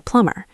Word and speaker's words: plumber: Your landlord is probably not a plumber. Your landlord will hire a plumber. So you might ask, could you send a plumber? Let's practice that silent B.